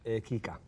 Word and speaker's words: Kika: Am I pronouncing the name of the film right? Kika? Kika? No, Kika. Kika. Kika, Okay, yes.